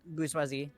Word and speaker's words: bourgeoisie: Because I pronounced it wrong. Bourgeoisie.